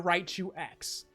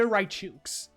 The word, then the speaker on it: Raichu X: So you guys, so please will call it Mega Raichu X. That's not the right way to say it. I can't force you to be right, but if I can save if I can save one person from embarrassing themselves, it's Mega Raichuks.